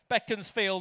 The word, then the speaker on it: Beaconsfield: It's Beckensfield. Is it? Oh, sorry. Potato potato. It's Beckensfield apparently.